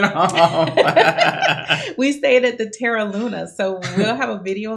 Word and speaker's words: Terra Luna: So we stayed when we went this time, we stayed at the Teranova. So we'll actually have Terra Luna. See, you said it wrong.